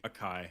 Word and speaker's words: Akai: How do you pronounce that? Akai mic? Akai, yep.